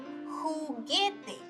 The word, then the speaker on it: juguete: However, if you see the UE combination after a G or a Q, it does not have this sound. You only pronounce the E. For example, juguete, que.